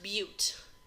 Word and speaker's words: but: prop is three carbons that's pronounced but is a long u it's four carbons pent